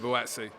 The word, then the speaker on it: Buatsi: Buat, they can't pronounce his name. I'm saying Buatsi.